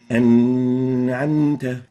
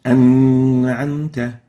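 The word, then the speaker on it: أنعمت: So it should be pronounced like this. An'amta. Not an'amta. An'amta is the right way to pronounce it.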